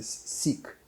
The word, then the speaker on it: Siq: То есть расщелина длинная, 50 метров, она называется сик. Не знаю, как по-русски. Больной? Нет, По-английски. по-английски оно пишется SIQ. Сик. Сик.